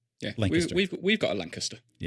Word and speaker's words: Lancaster: And if you if you say it as it's spelled, Lancaster. That's not how the locals call it. It's Lancaster. Yeah. Yeah. We've we've got a Lancaster.